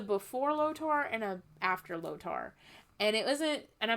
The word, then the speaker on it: Lotor: It was a before Lotor and a after Lotor. And it wasn't, and I might be saying his name wrong.